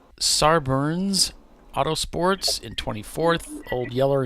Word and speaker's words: Sarberns: Then it's Sarburns Autosports in 24th, Old Yeller in 25th, including some EC cars. Almost sounds like you're saying sideburns.